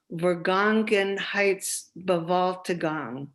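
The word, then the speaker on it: Vergangenheitsbewältigung: the term and i'm going to say it slowly because it's got eight syllables vergongen heights vivaltagong which translates as working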